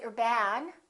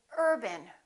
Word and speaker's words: urban: you success another example the word urban we don't say your bag we say urban repeat after me urban we stress this part and we reduce this part if you say urban